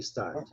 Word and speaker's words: start: Vamos evitar esse i final, tá, Madalena? Não, Lígia. É mudo no final. Né? Start. E esse R é aquele R de caipira, tá? De Piracicaba. Start.